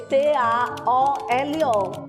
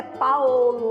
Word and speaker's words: Paolo: Paulo em italiano se escreve P-A-O-L-O.